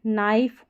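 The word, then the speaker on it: knife: नाइफ और नी क्योंकि इसमें के साइलेंट रहता है।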